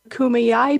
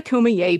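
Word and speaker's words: Kumeyaay: Julian California which is the land of the kumiyai people not the kumaye people Sydney learned how to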